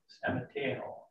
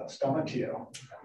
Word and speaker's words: Stamateo: And it's exactly like it looks if you don't know how to pronounce the U. So Stamateo. Okay. So I'm Stamateo.